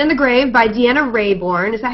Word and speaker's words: Raybourn: um called Silent In The Grave by Dianna Rayborn is that how you say it Kyla yes